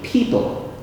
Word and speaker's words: people: People. People. People. People. All right. L and N sound very similar in thing, but you cannot do that in English.